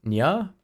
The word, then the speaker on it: nya: Nya ya.